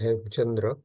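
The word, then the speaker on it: Hemachandra: him Chandra aara uh Wikipedia spells it hem kandra uh if or I suppose uh it's uh pronounced H Chandra and the other book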